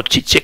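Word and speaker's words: Žižek: y conoceréis que se este esloveno ha llamado chi chi que se pronuncia así que ha renovado la crítica cultura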